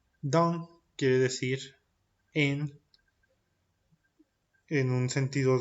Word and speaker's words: dans: La pronunciación de esta combinación c'est A. Por ejemplo, dans. Dans quiere decir en un sentido de lugar.